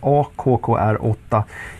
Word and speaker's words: AKKR8: Nu börjar leveranserna av sensorn AKKR8, uttalas accurate, en multisensor för olika typer av situationer.